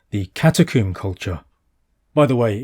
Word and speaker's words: catacomb: descendant culture called the Catacomb culture. By the way, in England we pronounce it catacomb, rhyming with tomb. In America they say catacomb.